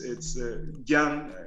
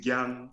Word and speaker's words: Gyang: It's Gyang. I'm sure it's hard for you all Americans to say Gyang.